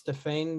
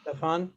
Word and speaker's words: Stéphane: Just Stéphane, even though the E on the end, it's still pronounced Stéphane.